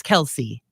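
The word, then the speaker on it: Kelce: dating Taylor Swift apparently his names name can be S said two ways I didn't know this I've always known it as Kelsey or kelse is another way to pronounce it apparently yeah I remember when people were were asking him is it Kelsey or Kel and he said it it's Kelsey yeah I it's news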